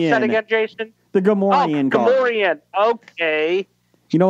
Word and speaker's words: Gamorrean: How do you pronounce that again, Jason? The Gamorrean.